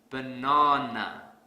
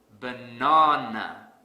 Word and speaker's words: banana: program here's another example let's say I pronounce this word has banana this is incorrect because I don't stress the second syllable so to fix this I will stress the second syllable really hard banana banana the sad silly but